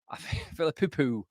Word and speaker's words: Filipou: Filipou. That's how it's pronounced.